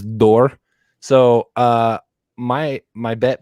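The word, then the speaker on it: Dort: that was had around how dor pronounces his name he says door so uh my my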